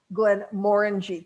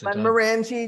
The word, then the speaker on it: Glenmorangie: any rabbit holes because I just learned to say Glenn moreni correctly yes I've been saying Mori just like other people I'm sure a lot